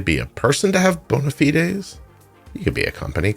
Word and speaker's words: bona fides: Oh, hell, I promised to tell you what bona fides means. Bona fides. It's bona fides? Bona, like that, with an E. Bona fides, spelled with an A, sounds like an E.